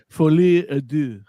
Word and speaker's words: Folie à Deux: It's pronounced Folie à Deux.